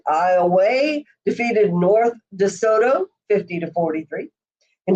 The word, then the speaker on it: Iowa: In Division 2, Iowa, it's a long A, Iowa defeated North DeSoto 50-43.